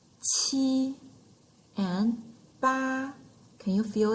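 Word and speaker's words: 七: E, qi, and ba. Can you feel it? They pronounce the same way. The tone is high and flat.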